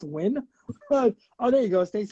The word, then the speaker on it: Nguyen: the way it's red it's pronounced win but oh there you